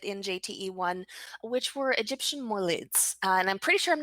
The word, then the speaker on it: moulid: a little bit in jte1 which were egyptian moelids and i'm pretty sure i'm not pronouncing that properly so would you uh say that for me a moolad thank you yeah excellent um but before we